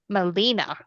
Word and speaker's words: Melina: So, and I have been corrected with the phonetic pronunciation. It's Melina. So there we Oh, go.